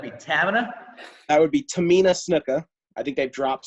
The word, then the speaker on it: Tamina: And you want to pronounce her name for us? Would that be Tamina? That would be Tamina Snuka.